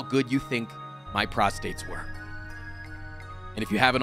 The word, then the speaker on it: prostate: very serious video about prostate and no i'm not pronouncing it incorrectly the second r is just silent fun fact in this